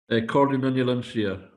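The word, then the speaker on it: Comhairle nan Eilean Siar: Cordon Shire.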